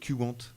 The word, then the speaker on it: Qwant: En termes de personnalisation, il y a aussi Qwant qui est pas mal. Alors, lui, on prononce Qwant.